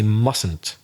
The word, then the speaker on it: mustn't: earlier and the pronunciation the first T seems to disappear in the pronunciation you say mustn't what the spelling is